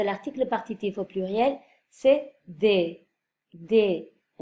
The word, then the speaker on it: des: Attention, la prononciation, je répète, de l'article partitif au pluriel, c'est des. Des. Un E fermé. Mais on ne prononce pas le S final.